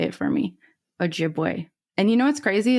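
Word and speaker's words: Ojibwe: So, the name Meno comes from the Drai uh word meaning Oji boy. Great. Oh, thank you. I'm going to keep butchering it. You should just say it for me. Ojiway.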